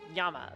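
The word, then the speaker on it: 山: Um, yeah, when it's on its own, it's yama. But if it's attached to a proper noun, so like you're naming it like Fuji or Aso or Unzen.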